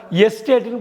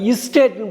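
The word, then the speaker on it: estate: இஎஸ்டிஏடிஇ அப்படின்னா எஸ்டேட்டுன்னு படிக்கக்கூடாது. Coffee எஸ்டேட், டீ எஸ்டேட்டுன்னு சொல்லுவாங்க இல்லையா, அந்த எஸ்டேட்டுன்னு படிக்கக்கூடாது, இஸ்டேட்னு படிக்கணும். இஸ்டேட், இஎஸ்டிஏடிஇ அப்படி ஐயில் ஆரம்பிக்கிற மாதிரி உச்சரிக்கணும்.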